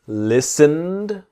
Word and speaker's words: listened: So the t and e in listened are silent. So listened listened not listened.